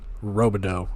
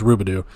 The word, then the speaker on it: Rubidoo: Harrison Robo or Rubidoo, excuse me. I got to pronounce it. It's like Scooby-Doo. It's Rubidoo.